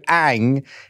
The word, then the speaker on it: Anh: to be joined on the Coro couch by Ang nen now Ang did I pronounce that right how how do you actually